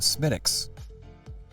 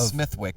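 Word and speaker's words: Smithwick's: the idea of not Smithwick SMI SMI there's no h um although it there is an H there is it but it's not pronounced with an h no yeah um I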